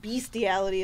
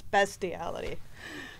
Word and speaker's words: bestiality: doesn't work on there secondly bestiality doesn't have an a it's not beastiality it's bestiality we're going to talk